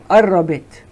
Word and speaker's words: قربت: Next sentence is إنه نهايتي قربت. إنه نهايتي قربت. The قاف in Levantine dialect, in Shami dialect, we spell it A.